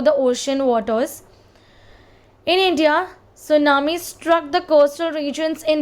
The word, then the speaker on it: tsunami: Now tsunami, where the letter T is silent, and it's a Japanese word that means giant wave.